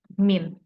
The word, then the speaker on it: mean: Padahal enggak, kita membacanya dengan min.